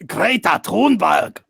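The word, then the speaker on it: Greta Thunberg: global thing is this grete Thornburg oh whatever she wants to be called it's pronounced great that horn bad okay yeah I know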